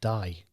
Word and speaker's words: Die: It's just again, pronunciation, but it's spelled die, which isn't the nicest place to go on a bike. It's better on the road of death, I'm guessing you but, pronounce it D, but it's on the